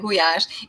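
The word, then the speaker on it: gulyás: actually a Hungarian guash the Hungarian pronunciation the Hungarian guash it's a soup we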